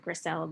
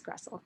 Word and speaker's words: Gressel: i'm i'm gressel some people pronounce it grisel but it is crustal so i think you